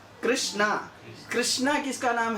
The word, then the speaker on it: कृष्ण: जाए तो गलत है कृष्ण का नाम जब हम उच्चारण करते हैं तो एक्चुअली वो कृष्ण है अगर उस पर आ का मात्रा लगा दिया तो फेमिनिन हो जाता है समझे क्या हो जाता है स्त्रीलिंगी हो जाता है वो कृष्णा कृष्णा